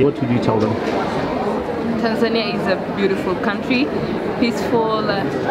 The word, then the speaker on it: Tanzania: property and a person who's never been to Tanzania, but I was told I say it wrong. How do you say it? Tanzania? Tanzania. Tanzania, okay.